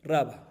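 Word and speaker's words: Rava: que explicarla según la opinión de raba s con acento en la primera con la primera primera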